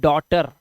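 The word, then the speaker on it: daughter: और इसी तरह से हम बेटी को क्या बोलते हैं इंग्लिश में, बेटी, इसे पढ़ते हैं डॉटर।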